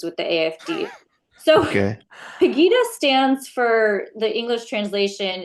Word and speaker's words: Pegida: There's also an organization called Pegida. Am I pronouncing that correctly? Pegida.